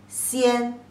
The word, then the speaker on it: 仙: And pronunciation as xi, yi, an, xian.